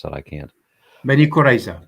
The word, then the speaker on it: Bani Qurayza: Did archaeologists discover the mass grave containing the Jews from, you're going to have to pronounce that, I can't. Bani Qurayza, Bani Qurayza.